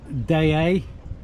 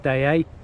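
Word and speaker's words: Deshaies: little Anchorage but it's lovely so this is day a that's how you pronounce it it looks totally different on the chart the way it's spelled but it's cooked pronounced day a I lost count of how many times I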